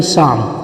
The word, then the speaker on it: Psalm: Spelling शुरू तो पी से होती है, मगर पी साइलेंट है. एल भी आएगा, एल भी साइलेंट है, तो सही आवाज़ होगी साम. द साम of life.